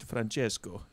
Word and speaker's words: Francesco: You've got to say it with a much more sort of rounded Francesco. yeah. Italian R.